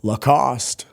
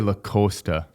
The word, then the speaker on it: Lacoste: So, how do you say that brand? Lacost. I always say Lac Costa.